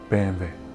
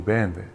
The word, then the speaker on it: BMW: start calling BMW for the German pronunciation which is bambe because growing up in Europe we and Iran we always used to call BMW bandw that's how the Germans pronounce it and I'm actually learning